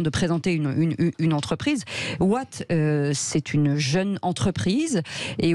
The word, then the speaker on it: Waat: intéressant et important de présenter une une entreprise what c'est une jeune entreprise et aujourd'hui qui s'est